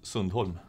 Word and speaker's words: Sundholm: Sweden how do you say your name Magnus Sunol Magnus Sunol yeah it was very very from